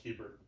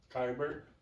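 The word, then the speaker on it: Keibert: It's pronounced Keeper. Kyber.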